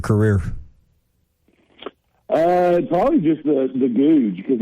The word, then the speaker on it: Goode: last name which is g-o-o-d-e for those that don't know listening it's pronounced good but there's a lot of people say good or good day a couple people back in college called me gooch um so it kind